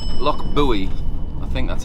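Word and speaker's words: Loch Buie: First port of call for us is somewhere called Loch Buoy. Loch Buoy, I think that's how it's pronounced.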